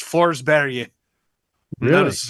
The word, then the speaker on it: Forsberg: It's Forsberg.